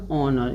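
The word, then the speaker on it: honour: जैसे देखिए पहले इसको एच ओ से पहले आया है एच इसको साइलेंट रखना है। इसको का पढ़ना है ऑनर। इसको क्या पढ़ना है? ऑनर। एच को हॉनर मन नहीं पढ़ना है।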